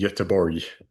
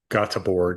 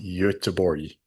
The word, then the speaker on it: Göteborg: So, for example, there's the city Göteborg, right? Not Göteborg, as you might want to pronounce it, Göteborg.